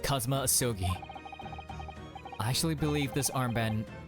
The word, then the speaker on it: Kazuma Asogi: It's pronounced Kazuma Asogi.